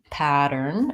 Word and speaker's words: pattern: of air and then we have a flap T pattern it sounds more like a D you need a tight